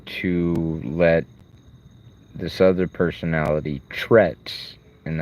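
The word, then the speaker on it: T'retz: And that allows me to let this other personality trets, and that's spelled T apostrophe R E T Z. It's like saying Tourette's but really quick.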